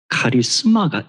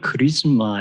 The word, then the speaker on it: 카리스마: 어떤 사람을 볼 때 카리스마가 있다 이런 표현이 있다고 쓰죠 대체로 정치가들 중에서 카리스마가 있어 그리고 리드쉽에 어떤 영어로는 크리즈마 이런 발음을 주로 하는 것 같은데이 카리스마 하는이 단어는 헬라어입니다 카리스마 방금 제가 읽었던